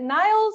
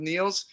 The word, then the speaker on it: Niels: Niels, is it Niles? Niels, how am I saying it right? Niels. Niels. It's Niels. Okay, why don't you go ahead and introduce yourself and your film? Yeah, I'm Niels Mueller, and I'm the